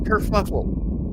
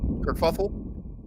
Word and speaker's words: kerfuffle: bit of a technical Kur fuffle kerfuffle kerfuffle I actually mispronounced Kur fuffle that's uh that's a